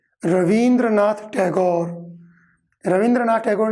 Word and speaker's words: रवींद्रनाथ: अपने रविंद्र दिया तो रविंद्र शब्द जो है यह बुद्धि के अंदर गलत शब्द है रवींद्रनाथ टैगोर रवींद्रनाथ टैगोर का